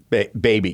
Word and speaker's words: Bhabie: I'm getting baby. It's BHABIE. So baby.